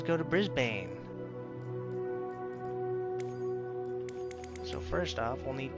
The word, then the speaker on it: Brisbane: Brisbane. It's pronounced like that. Quark says, "Oh, okay." With the short A.